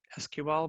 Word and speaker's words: SQL: language you'll notice that I change how I pronounce SQL between sequel and SQL I tend to say sequel but I think SQL is probably more correct so you're gonna see